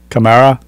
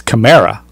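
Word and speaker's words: Kamara: he told us yesterday it's camra not Kamar camra which it sounded weird I mean he's been called Kamar in his entire career but he said he pronounces it camra so he should know well he's a Camaro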